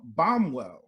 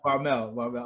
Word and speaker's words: Baumel: There's no W in there, but Baumel. A for effort. How do you say it? The correct pronunciation. Baumel.